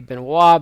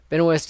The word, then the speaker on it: Benoist: tells me would be Beno but Benoist is more after a man after my own heart says his name the American way anyway Pearson's 36 years